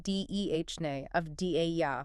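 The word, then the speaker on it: Deni Avdija: Danny of DJ. Yeah. And that's pronounced Dhne of Da for anyone wondering.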